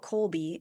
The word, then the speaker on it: Kolbe: from because one of the beautiful things about Colby and for those of you who are Googling it right now stop because it's spelled k o lbe yeah not the way